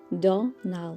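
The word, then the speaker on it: Domhnall: and his wife Mary his name is pronounced now where the m is not pronounced by the way the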